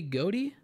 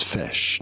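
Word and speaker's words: ghoti: the word fish so this is to be said as fish now what what guys I'm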